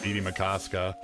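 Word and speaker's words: Bde Maka Ska: BD Makaska.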